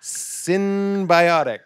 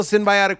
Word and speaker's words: synbiotic: have them for the camera this is ritual synthiotic i didn't want to say it wrong ritual synbiotic plus this is my probiotic that i take